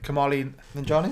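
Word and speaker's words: Kumail Nanjiani: So the Lovebirds, Kamali Nanjiani, is that you say his name?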